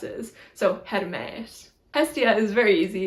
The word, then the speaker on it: Hermes: Hermes is Hermes, Hermes. So the first E is a short E and the second E is a long E, so like an eh sound. So it's eh and then eh.